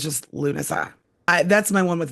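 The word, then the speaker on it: Lughnasadh: So, it's just Luna.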